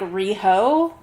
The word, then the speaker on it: Riho: Like it's spelled R I H O. So I'm like Rioho. Riho. Yeah. Yeah. Okay. So Rio technically, but then Rio appears.